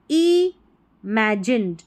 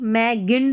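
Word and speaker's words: imagine: Brighter then you ever इमेजिन। इमेजिन इसको इमेजिन पढ़ना है। कल्पना करना। कल्पना की तो इमेजिन। ठीक है? ई मैगिंड नहीं पढ़ेंगे। जी को यहां पर ज पढ़ा जा रहा है। इमेजिन।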